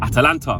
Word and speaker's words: Atalanta: want to just say atlanta is easy but got to pronounce it properly in it because it isn't atlanta georgia it is atalanta from italy um well do i